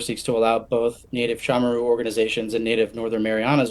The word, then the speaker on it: Chamorro: I'm sure you very much would like to know that it's pronounced Chamorro, not Chamorro.